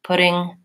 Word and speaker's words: pudding: like batter and batter the main difference is that because this has a D a voiced sound then my vowel should be slightly longer than in this one that just has a flap T which is also voiced but my vowel is shorter so I would tend